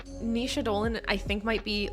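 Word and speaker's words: Naoise: Irish name pronunciation. Nisha. I'm so good. I got it. Okay. Thank you, Sage. I thought that I had learned it. But then I second guessed myself. Who's surprised? Anyways, Nisha Dolan, just truly an incredible voice as an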